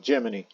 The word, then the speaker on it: Gemini: One is for the Mercury pilot, and the other is the Gemini pilot, or is what NASA calls it, Gemini, as the official pronunciation as such.